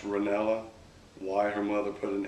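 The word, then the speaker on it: Renalla: n a l l a that's interesting it's pronounced ranella why her mother put an A in there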